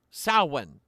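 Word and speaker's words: Samhain: quarter day with s sinan the uh the M there is silent it's pronounced sin and it is October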